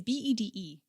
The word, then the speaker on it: Bede: I think it's Beatty. It's Bede.